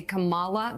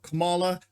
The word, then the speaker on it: Kamala: has begun you'll notice they purposefully pronounce her name wrong they say Kamala they do it all the time it is